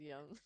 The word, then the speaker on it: Jung: Jungian, yeah, That's Carl Jung, so it's Car- pronounced as Young. Young.